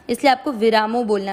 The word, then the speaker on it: विरामो: विरामो, वीरामो नहीं करना है, ये ध्यान रखना है।